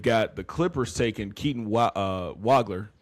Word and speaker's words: Wagler: At 5, they've got the Clippers taking Keaton Wagler.